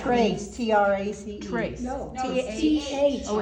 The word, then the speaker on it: Thrace: Is Thrace still in existence?